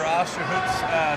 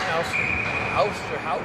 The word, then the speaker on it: Osterhout: Baker picks it up on the half wall and bounces over Osterhoot's stick again. Osterhout. I think that's how he told me to pronounce his name.